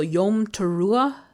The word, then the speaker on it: Yom Teruah: Also Yom Teruah. That's how it's said, I believe.